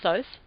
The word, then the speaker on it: Thoth: channel and channeled information from Thoth, or Thoth, depending on your pronunciation, and created what was called the Melchizedek method, which is now called the Camadon Academy.